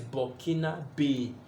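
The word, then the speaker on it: Burkinabè: So the writing looks like Burkina Bay, but it has some mark on it. So the pronunciation is Burkina Bay, B-A-Y.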